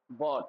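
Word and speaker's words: bought: का क्या था ब्रॉट बॉट सॉरी तो आई का क्या था? बोट ए ओ यू जी एच टी तो यहां पे भी जी एच साइलेंट वैसे ही आपने देखा था ब्रिंग का ब्रिंग का भी क्या था?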